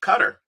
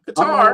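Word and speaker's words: Qatar: Think about how long it was before we learned how to properly pronounce uh cutter. Not guitar.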